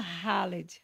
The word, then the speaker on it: Khaled: A gente falou muito a respeito do Khaled, porque escreve Caleb, né? LED em letras É latinas. Khaled. E as letras latinas. E pronuncia Khaled, Khaled, sim.